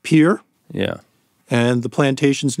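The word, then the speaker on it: Peere: And this family, I don't know quite how you pronounce this, but the family name is spelled P-E-E-R-E. So it's like Pier.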